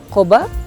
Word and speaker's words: Cova: Tapi oh ya, kalau mereka bacanya Koba aja nih ya, San Cova. Kayak ada BB-nya gitu. Koba, San Koba.